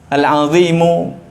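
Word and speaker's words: العظيم: Di bawahnya Rabb Arsy yang Maha Agung, tapi di sini baca Al-Azimi. Harusnya dibaca apa? Al-Azimu. Karena yang agung Allahnya, Rabbnya, bukan Arsy-nya. Jadi ya ini nggak tahu kita mau yang betulkannya yang mana ini.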